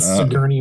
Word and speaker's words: Sigourney: With Sigourney Weaver, you have to say Sigourney. People always correct you. Is her name Sigourney? I didn't know that. Yeah, that's how you're supposed to pronounce it. Sigourney. Not Sigourney. Sigourney. Like the thing that you ride on when you go into the hotel hospital.